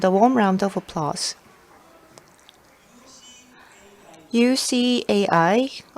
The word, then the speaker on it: UCAI: UCAI, or you could pronounce it UCAI, UCAI, user-centric artificial intelligence, and also it is branded UC because it also means you can see.